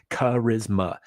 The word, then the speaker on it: charisma: Charisma. It's three syllables. Not that hard.